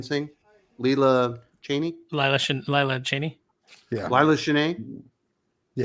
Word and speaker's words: Lila Cheney: yeah Laya Chen yeah that's how I always pronounce it as a kid but I guess it is just Cheney yeah it's I I just called her Lilla sheney very nice but I